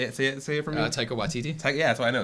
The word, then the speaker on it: Taika Waititi: Taika Waititi? Yeah, that's what I know. Taika Waititi. Yeah. There you go. I know. Oh, okay. All right. Taika Waititi.